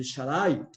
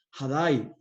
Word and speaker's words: Shaddai: es y usted seguramente esta palabra el shaddai es el pronunciamiento incorrecto del hebreo cuando nos referimos a dios como todopoderoso en la pronunciación correcta es jada y jada y hermanos el